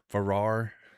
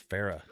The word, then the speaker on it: Farah: I've been saying Ferrar and it's Farah. Oh, he because he said something about it was like Farah Faucet.